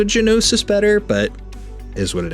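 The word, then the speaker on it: Gnosis: voices voice actors whatever she called him nosis with the silent G so I'm curious as to what it is I kind of like the sound of genosis better but is what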